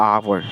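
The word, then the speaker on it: hour: यहाँ पे आवर का प्रोनाउंसिएशन किससे स्टार्ट हो रहा, आवर, आ से स्टार्ट हो रहा.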